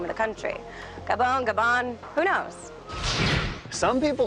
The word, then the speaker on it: Gabon: name of the country Gabon Gabon who knows some people say Gabon some people say Gabon the French say the bulk so I'm going with the French only I'm adding the end